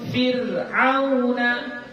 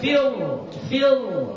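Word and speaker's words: فِرْعَوْنَ: Contoh nahu fir'auna. Ya, jadi jangan dibaca fil, bukan. Bacanya tipis. Fir'auna.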